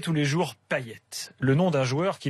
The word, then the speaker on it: Payet: Manu Payet. Il est réunionnais. Oui. Ça s'écrit pareil, on dit Payet. Oui, mais lui, Dimitri, il dit ça.